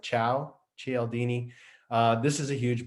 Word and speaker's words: Cialdini: took me a while to learn how to pronounce his name it's like ciao cieldini uh this is a huge book it's a